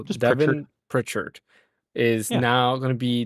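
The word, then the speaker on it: Devon Pritchard: How do you pronounce the name? Pitchford? Was it Pritchard? I don't. Yeah, I can't pronounce the last name. But it's really not that bad. It's Devin. I'll have Bryant say it so I don't mess it up. Here we go. Devin Pritchard. So just Devin Pritchard is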